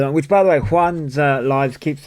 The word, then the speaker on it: Juan: I mispronounced it first as well. It's pronounced Juan. I pronounced it June, I think, at first.